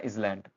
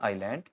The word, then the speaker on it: island: इसको बोलते हैं इजलैंड। ये इजलैंड नहीं है। ये है आपका आयलैंड।